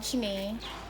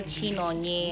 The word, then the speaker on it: Chinenye: Though one of the times I told someone my name is Chinenye, they actually call Chinonye and some other kind of.